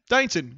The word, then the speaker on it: Dainton: Is that how it's pronounced? Dainton.